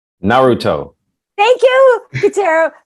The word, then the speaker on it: Naruto: It's Naruto. Thank you, Catero. Naruto.